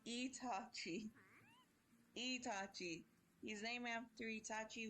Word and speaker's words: Itachi: Wait, who is Tachi? No, it's Itachi.